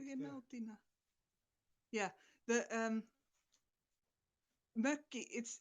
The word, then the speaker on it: mökki: Yeah, the mökki. It's spelled M and then O with dots, double K and I.